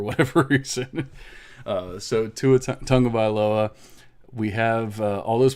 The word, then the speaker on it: Tagovailoa: gibson cd lamb jerry judy and tua tagovailoa tonga by low i always say it right and just now i didn't for whatever reason uh so two tongue of iloa we have uh all those players and they're